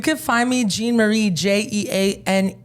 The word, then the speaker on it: Jeane: find me Gan Marie j e a n e m a r i e Jean Marie the E is silent I'm a little I'm